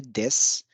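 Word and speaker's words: です: सबसे बेहतरीन उदाहरण है देस। देसु लिखते हैं लेकिन उसका उच्चारण होता है देस।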